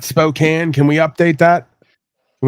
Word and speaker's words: Spokane: Spokane it's SP p o k n e that's Spokane I what now Jack of mangle Cott yeah whatever I'm saying it's spok not Spokane can we update that